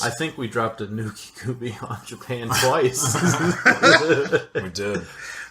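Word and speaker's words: Nukekubi: The Nuke Kube, I think is how it be pronounced.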